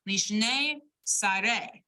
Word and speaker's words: lishne sare: Lishne sare, right? You got 2 syllable stresses in that word. It's hyphenated, but the stress of the trope will go on sare, re.